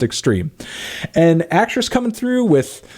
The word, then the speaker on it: X22RME: It's X22RME, but I think it's pronounced Extreme.